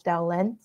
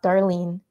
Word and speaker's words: Darlène: I wish I could return to that moment and reiterate that my name is "Darlène," not "Darlene."